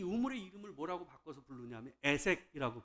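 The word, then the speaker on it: 에섹: 나와요 그래서 이삭이이 우물의 이름을 뭐라고 바꿔서 부르냐면 애색이라고 발음을 싸움 다툼이라는 말 또 다시 이주를 해 해요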